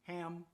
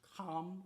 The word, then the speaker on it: Ham: As you know, Noah had a son named Ham. That's how we pronounce it in the English, but actually in the original language is pronounced Kam or Cam, as in similar to Cam, as in Kemet, but Cam had 4 different sons.